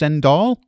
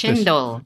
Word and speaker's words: cendol: Speaking of desserts and sweets, I read about something called I think it's pronounced cendol, Cendol. Are you familiar with chendol.